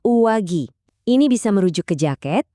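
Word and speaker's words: 上着: Dibacanya uwagi.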